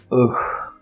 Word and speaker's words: ugh: the pronunciation, if you look it up in the dictionary, is ugh, ugh. Less frequently, ugh. It's usually pronounced ugh. And then in this, you see the sound ch, which is not part of the phonology of standard English.